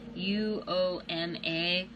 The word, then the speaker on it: Uoma: Okay, this is the, I really don't know how you spell it. I mean, say it. It's UOMA.